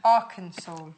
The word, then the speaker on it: Arkansas: Not Arkansas, Not like Arkansas, I said. no. Arkansas.